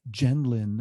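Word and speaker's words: Gendlin: me going and this quote is by gene genlin a gentleman who founded focusing that treatment modality and his name is spelled g-e-n-e last name g-e-n-d-l-i-n pronounced gentleman so he says the essence of working with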